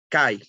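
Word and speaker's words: 改: in japanese the first kanji we call we pronunce kai but the meaning is change of continuity the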